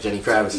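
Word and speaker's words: Genny Gravitz: Jenny Kravitz.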